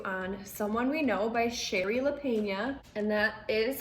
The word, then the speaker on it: Shari Lapena: doing a review on someone we know by sherry lapena and that is how you pronounce it i checked so this book is